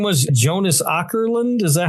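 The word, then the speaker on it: Jonas Åkerlund: Jonas Ourland.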